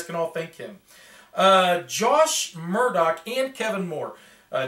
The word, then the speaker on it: Jwsh: just cracked me up it took me a while to figure out how to pronounce it but yeah it's josh murdock um the bandit henchmen